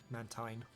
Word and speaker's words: Mantine: goodbye mantin that sounds weird no you were pronouncing it correctly Mantine I'm going to keep pronouncing it Mantine I